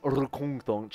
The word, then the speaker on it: Rkungtunch: Fine, that's how you pronounce it, by the way. Rkungtunch, and you have to really get it quite glottal there.